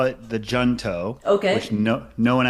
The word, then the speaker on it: Junto: for kids DC and also in 2017 the yunto hunto so there's a few ways to say it we call it the junto okay which no no one actually pronounces that